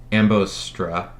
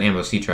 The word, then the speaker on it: Ambositra: satellite up forum uh i believe that's ambostra um ambositra yeah you pronounce that ambositra i believe uh in